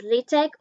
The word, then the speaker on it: LaTeX: It can either be pronounced as LaTeX or LaTeX, and I randomly switch the pronunciation.